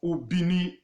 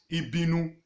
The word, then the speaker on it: Ubini: with their mother tongue so that was how the europa pro asked ubini to suit their tongue and call it ibinu to them ibinu means